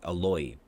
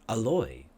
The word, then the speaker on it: Aloy: character's name was like Aloy. So they put a stress on the oi sound. So we usually pronounce this word alloy, but her character's name was Aloy, which it's just alloy